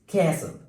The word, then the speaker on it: castle: Number next is castle. What? Castle. So in the word castle we have a silent letter that is T.